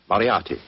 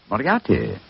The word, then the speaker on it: Moriarty: spelled m-u-r-t-ry no dmi i have so much trouble with my name people will either misspell it or mispronounce it i'm afraid i'll have to begin calling it the way it looks m o r i a r t y mariarty mariatti i shall remember that